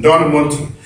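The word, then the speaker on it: ἐνδυναμοῦντι: The word in Greek is Endonamounti. It almost sounds Italian. Endonamounti.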